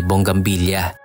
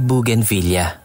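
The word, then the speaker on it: bougainvillea: na o kaya ay bonggang billa na-high school na ako nung malaman ko na ang tamang bigkas pala ay buug Villa marami marami pang bulaklak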